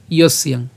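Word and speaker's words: যস্যাং: এরপর ইয়স ইয়াং, ইয়স ইয়াং, তা আমরা এটা একসাথে উচ্চারণ করছি ইয়স্যাং।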